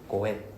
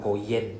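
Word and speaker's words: 五円: So will be for example if it's 500 right then it's 5 goen we don't pronounce the y sound there's no y sound in Japanese okay goen not go yen there's no yen okay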